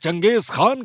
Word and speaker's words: Genghis Khan: First of all, it's pronounced Genghis Kahn."